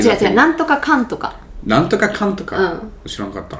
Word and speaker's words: なんとかかんとか: Nantoka kantoka. うん。 Shirankatta. I thought it was nantoka nantoka.